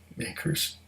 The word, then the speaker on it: Maker's: Not Elijah Craig. This is Makers. Makers. Rhymes with bakers, but I don't have any bakers today.